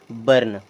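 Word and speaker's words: burn: देखें, यहाँ पर यू और आर है, इसे क्या पढ़ेंगे, बर्न। यहाँ पर जो यू आ रहा है आर के पहले, उसका उच्चारण भी हम छोटा आ की मात्रा की तरह ही कर रहे हैं।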